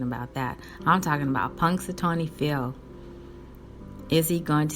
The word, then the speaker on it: Punxsutawney: And if you know how to spell Punxsutawney, it's spelled Punxsutawney. Punxsutawney. I think you say the N.